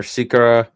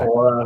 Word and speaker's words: Sikora: I guess we were all pronouncing his father's name wrong as well when he played in the NHL. But it's Sikora.